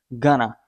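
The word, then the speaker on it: gonna: word spoken daily speaking you can say Gana instead of going to you have to say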